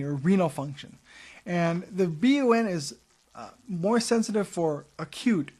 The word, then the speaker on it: BUN: So that we look at the BUN, blood urea nitrogen, but we pronounce it BUN, not bun.